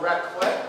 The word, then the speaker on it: raclette: And this is a raclette, am I pronouncing it correctly?